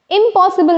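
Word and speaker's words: impossible: तो prefix pronounce ना हो कर के क्या प्रोनाउंस होगा इंपॉसिबल नहीं हो कर के इंपॉसिबल इंपॉसिबल इंपॉसिबल सो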